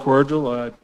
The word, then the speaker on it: Cordial: Yeah, I'm Walt Cordial. Spelled like a cordial invitation, easier than it was.